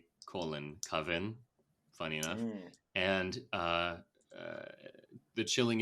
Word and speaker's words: Coven: It is Was that the Coven. correct Not Caven. pronunciation? Definitely not Caven. It's not a I didn't Coven. say Caven. It's not a Caven.